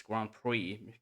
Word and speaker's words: Grand Prix: I think it's Grand Pris Grand Prix or Grand Prix. It's Grand Prix. You can you don't uh pronounce the X.